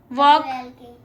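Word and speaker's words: walk: हाँ, L silent है। वॉक।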